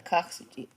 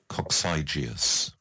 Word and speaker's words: coccygeus: So here's how people in the United States say this word. Coccygeus. Coccygeus. Coccygeus. Coccygeus. And in UK, in England, Coccygeus. coccygeus. So different pronunciations.